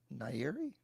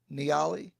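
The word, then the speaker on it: Nyali: Maybe I needed I didn't like the place I stayed at, and maybe I only stayed in Mombasa and Nairi. I think that's Niali.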